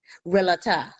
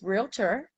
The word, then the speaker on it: realtor: before somebody you know be like relata it's two syllables realtor not three okay and that's my